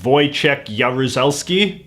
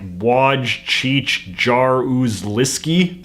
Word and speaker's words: Wojciech Jaruzelski: You pronounce his name like Wojciech Jaruzelski, but obviously just seeing his name in print doesn't communicate any of that.